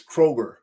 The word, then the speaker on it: Kroger: me that I've been saying it wrong for for 40 plus years it's Kroger not Kroger just one it's one